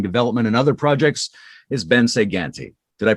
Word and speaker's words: Bence Ganti: his own ongoing development in other projects is ben saganti did i pronounce that right yeah yes perfectly okay part of me wants to do an italian like bench again that's not quite it but you know it's